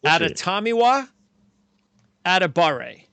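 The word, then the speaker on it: Adetomiwa Adebawore: Adetomiwa Adebare.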